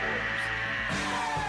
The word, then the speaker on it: horrors: like a house of horrors. Horrors, that's 2 syllables. House of horrors, like it's Halloween, horrors. Okay, I just wanted to say that, 2 syllables. 2 syllables, horrors.